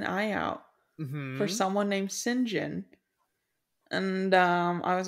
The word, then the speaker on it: St John: John yeah it's pronounced singen what Yep this is a br this is a wild British thing but his name is singen yep what yep yep